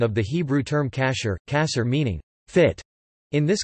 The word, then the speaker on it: kashér: Food that may be consumed according to halakha law is termed kosher in English, from the Ashkenazi pronunciation of the Hebrew term kasher, kasher meaning fit.